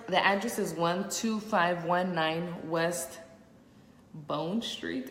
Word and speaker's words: Bohne: The address is 12519 West Bone Street. It's spelled Bohne.